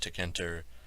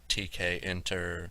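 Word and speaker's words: tkinter: the library to kinter I call it to Kenter I've heard TK inter and other pronunciations pronounce it however you like people will know what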